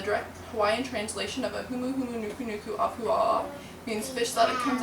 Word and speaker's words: Humuhumunukunukuapua'a: And if you cannot say Humuhumunukunukuapua'a right off the bat, here's little note cards that teach you how to say it slowly. You go hu, mu, nu, ku, a, pu, a. Humuhumunukunukuapua'a.